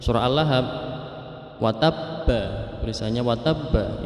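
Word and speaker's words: وَتَبَّ: Kemudian dalam akhir surah akhir ayat 1 surah Al-Lahab, watabba, tulisannya watabba itu qalqalah kubro, yaitu memantulkan. Bacaan yang dibaca dipantulkan, tapi ini kubro karena ada harokat tasydid.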